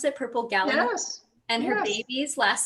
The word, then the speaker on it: gallinule: Is that how you pronounce it? Purple gallinule?